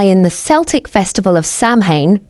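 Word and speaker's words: Samhain: The roots of Halloween lie in the Celtic festival of Sam Hayne pronounced sewin which predates Christianity and was observed by ancient druids.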